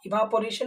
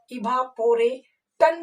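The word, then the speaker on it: evaporation: जैसे हमारा हो सकता है इवापोरेशन, आप लोगों ने बहुत ही सुना होगा इवापोरेशन, वाष्पीकरण, इवापोरेटन नहीं, इवापोरेशन, क्योंकि टी के बाद 2 वॉवेल है।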